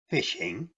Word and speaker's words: phishing: its most basic form phishing pronounced fishing is a scam in